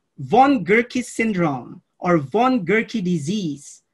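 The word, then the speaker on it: von Gierke: colleagues who are with us okay this is pronounced von gurkey syndrome or von gurkey disease have you ever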